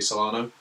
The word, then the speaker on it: Solano: Brazil versus Peru and Nobby Solano with the Peruvians. Is that how you pronounce it?